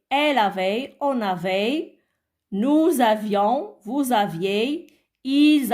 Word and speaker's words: avions: Nous avions, faisons la liaison. Le S ne se prononce pas.